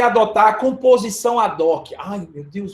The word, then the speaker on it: ad hoc: Como se fosse uma palavra só e omite o H. Então, pode ser que alguém de vocês aí tenha o mesmo problema que eu tive por anos, já acabou de aprender. A pronúncia é ad hoc.